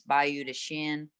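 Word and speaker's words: Bayou de Chien: That's how the locals say it. It's Bayou de Shin, Creek of the Dog.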